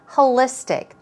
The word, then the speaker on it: holistic: something moving on to holistic here we go stress goes right there holistic now when it comes